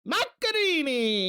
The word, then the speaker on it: Macchiarini: meat that is hello macarini macarini Marini and I look that up and that is how you pronounce it in Itali land L listen to you